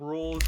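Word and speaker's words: Rouxls: The X is silent, like a French spelling or something.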